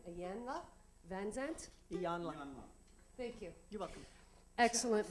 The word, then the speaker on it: Iyanla: My dear friend, Judy Pressman gave me this book for Christmas, Trust by how do you pronounce her name? Iyanla Van Zandt? Iyanla.